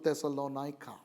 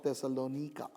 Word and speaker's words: Thessalonica: epistles and that's to thessalonica or thessalonika depending on how you would want to pronounce it another european city but